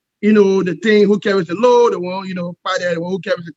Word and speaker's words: Kpadeh: Well, so from the Loma belt, it's actually pronounced as Kpadeh. Okay, Kpadeh. All right. So in grammar, you pronounce it as Kpadeh.